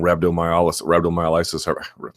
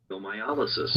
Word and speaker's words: rhabdomyolysis: And guys like Junior Dos Santos are getting rhabdomyolysis, rhabdo for short.